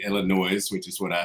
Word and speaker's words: Illinois: just heard you say Illinois which is what I said who is the who in the hell came up with silent letters that thing in that word that that's just stupid